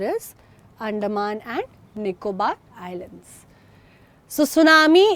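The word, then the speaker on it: tsunami: अंडमान और निकोबार आईलैंड्स सुसुनामी एक एक्चुअली जापानी शब्द है ठीक है जिसमें टी साइलेंट है और इसका मतलब होता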